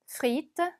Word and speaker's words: frite: frite, frite. 자, 얘는 지금 FR 같이 붙어 있기 때문에 발음하시기 조금 까다롭죠. 스 입술을 물었다가 터트리면서 R 발음을 동시에 내주셔야 됩니다.